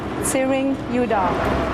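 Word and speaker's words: Tsering Youdon: is y o u d o n and pronounce it one more time siring udah uh what's going on today uh right now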